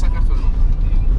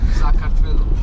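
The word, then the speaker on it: საქართველო: Georgia is Sakartvelo. Georgian. No. Sakartvelo.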